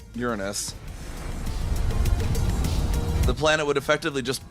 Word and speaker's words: Uranus: Uranus is the correct pronunciation.